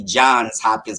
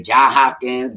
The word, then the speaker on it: Johns Hopkins: it as it is it is actually johns hopkins because you know people say john hopkins john it's john's hopkins and i remember doing